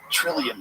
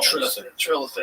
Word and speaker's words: Trilithon: It's the Trillium stone. Trilithon. I keep saying it wrong.